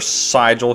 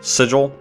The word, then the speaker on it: sigil: We got another sigil here. Sigil. I think it's sigil because, like, keeping a vigil is spelled the same way with a V instead of an S.